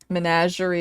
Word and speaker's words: Menagerie: Menagerie is how I pronounce it.